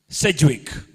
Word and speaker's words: Sedgwick: Sedgwick. Is that the right pronunciation?